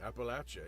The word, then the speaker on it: Appalachia: and Appalachia even just to know how to pronounce it properly Appalachia you know I learned so much working on